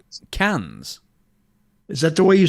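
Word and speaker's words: Cannes: How do you pronounce that? Say it again. C music festival. C A N E. Cans. Is that the way you say it? Yes. C A N E S. Yes. Cans.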